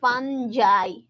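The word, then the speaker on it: fungi: Mushroom না ছত্রাক ফাঞজাই এটার উচ্চারণ কি এটার উচ্চারণ হচ্ছে ফাঞজাই ফাঞজাই ফাঙ্গিও বলে অনেকে বাট এটার উচ্চারণ আসল উচ্চারণ আসলে ফাঞজাই এগুলাকে আমরা বিভিন্ন জিনিসের উপর ভিত্তি করে শ্রেণীবিন্যাসটা করছি।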